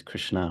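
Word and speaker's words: Kṛṣṇā: names of jop is Krishna with a long a on the end because uh female names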